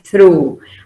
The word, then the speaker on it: through: Se pronuncia con U larga. She's through.